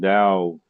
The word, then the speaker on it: Tao: It's pronounced Tao with a D.